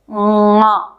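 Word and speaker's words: ङ: So this sound has to come from the Kanthya region, which is the region of the small tongue, plus it should come from the nose also. So it is pronounced like this. Nga, nga.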